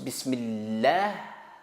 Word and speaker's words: bismillah: d'iowa manioc riz ici attention quand on prononce bismillah on ouvre la bouche parce que les mym avant le mot à mot mime à 20 aloi mais le accent sur la lettre mime ses accents i c